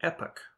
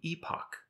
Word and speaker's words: epoch: American English will say epic with the stress on the first syllable this will sound very similar to the English word epic which means a legendary